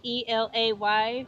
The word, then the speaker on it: Elay: It's me, Elay, Elay, pronounced like the city.